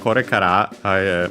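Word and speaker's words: これから: Yeah, so in this case, actually, by the way, korekara, maybe I haven't mentioned that before, is technically accent on the ra itself. So yeah, on the last, on the ra of the kara.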